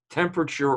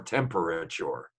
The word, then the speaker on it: temperature: p e a e-r-a-t-u-r-e how many syllables temperature or temperature okay i say temperature but i say diaper